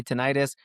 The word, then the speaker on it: tinnitus: Some people say tenitis. Last time I sat with an aiologist, shout out to Dr. ILF at Hearing Associates of Colorado. She used tinitis. So that's going to be my pronunciation going forward.